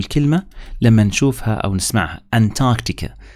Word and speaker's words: Antarctica: عشان إيش ما تستغربوا الكلمة لما نشوفها أو نسمعها أنتاركتيكا، هي بنقراها أنتاركتيكا، الآر لا تنطق.